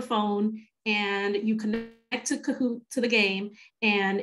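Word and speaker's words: Kahoot!: end i like to use a game called kahoot it's called kahoot and it's spelled k-a-h-o-o-t exclamation mark so what i like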